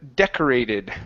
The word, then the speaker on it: decorated: Next we have the word decorated right here. So the stress is at the very beginning.